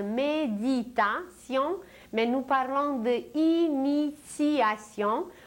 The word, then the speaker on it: initiation: Et nous aujourd'hui nous ne parlons pas de méditation mais nous parlons de initiation où un t se prononce comme un c mais en réalité il s'agit d'un t et la racine du